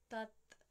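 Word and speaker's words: तत्: Instead, we relax the tongue and the tongue sits between the teeth or touching the upper teeth for tat.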